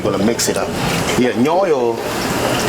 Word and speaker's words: Nyoyol: Yeah, Nyoyol is spelled very easy. N-Y-O, Nyo. Yo, Y-O. So N-Y-O, Y-O. Nyoyo.